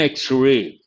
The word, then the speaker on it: X-ray: he has taken an x-ray x again it begins with a vowel sound based on that we have to say he has taken an x-ray and fir and x-ray